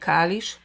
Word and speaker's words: Kalisz: Kalisz.